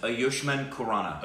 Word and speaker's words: Ayushmann Khurrana: The proper pronunciation is Aushman Kurana.